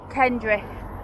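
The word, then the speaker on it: Kendray: Spelt Kendry, but pronounced Kendry.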